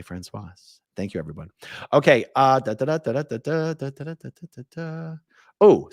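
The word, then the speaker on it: Françoise: emails and comments saying, you're saying the name wrong in French. You don't pronounce the S. And then French people will tell me, Francois is a man's name. Francoise is a woman's name. And that's why I say it that way.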